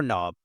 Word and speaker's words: knob: here is the door knob yes the K in knob is silent these parts here are